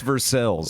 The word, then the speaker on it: Versailles: it's louvous it's louisville it's versailles like it's for sale oh yeah like [